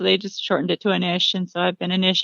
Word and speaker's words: Anish: Is it pronounced Anish? Anish is how I pronounce it, Anish. but Anish Okay.